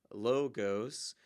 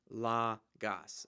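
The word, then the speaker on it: λόγος: that i'll give you watch out for the omicron several students want to read that as a long o sound so for example they'll say logos but it should be a short o sound so la gas that ah sounds lagos so one tip for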